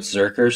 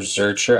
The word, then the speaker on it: Zercher: are you familiar with zerker squat or zercher I think they pronounced zerker squat like you hold it